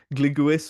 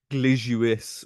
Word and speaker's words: Glewis: I pronounced this as sort of Gliguis or and Cleges last time, but it's actually closer to like Glijuis or Glejuis, and he would have been Sir Cleges or something like that.